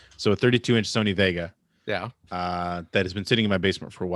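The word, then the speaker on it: Wega: it's it's technically it's spelled but it is pronounced vega so 32-inch sony vega yeah that has been sitting in my basement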